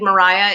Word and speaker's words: Maria: is is fun um i played mariah in 12th night yes that is actually how you're supposed to say her name we had a whole